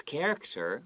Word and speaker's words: character: history right so here pay attention to the word character just like christmas the ch is not it's a hard c sound okay and what do